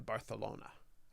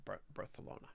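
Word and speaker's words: Barcelona: as well be fun we're going to barthelona I was told that's how to pronounce it birth alona all right Jake good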